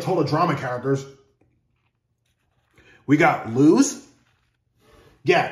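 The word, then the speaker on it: Luz: Drama characters we got lse yeah it's spelled l u z people for a fact despite how her name is supposed to be lse she has more of a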